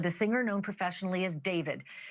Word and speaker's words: d4vd: literally for the singer known professionally as David, spelled D4 VD. I know it's strange, but it's pronounced Dave.